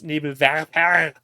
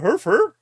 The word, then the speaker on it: Nebelwerfer: also it's Nebelwerfer. Not Werfer. It's not Mr. Herfer. It's Werfer.